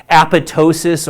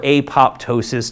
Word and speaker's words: apoptosis: about cell life style is apoptosis or apoptosis depending on who you ask again lots of different